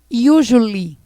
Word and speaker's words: usually: Usually. Certo? Observem esse finalzinho, que acaba em ly. Tem outros advérbios que vão acabar dessa forma. Nós falamos ly.